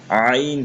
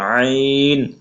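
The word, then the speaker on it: ع: আইন মাঝের আইন শেষের আইন নোক্তা দিলে গইন হবে আর আইন হরফ কন্ঠনালী বা গলার মধ্যখানে হয়তো উচ্চারণ হয় এজন্য একটু চাপ দিয়ে পড়তে হবে হামজা এবং আইনের ভিতরে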